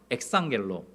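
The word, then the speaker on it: ἐξαγγέλλω: 엑상겔로. 발음이 좀 어렵죠.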